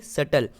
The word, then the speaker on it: subtle: BT साथ में आ रहा है तो हम B को साइलेंट रखेंगे। SUTLE, यानी सटल।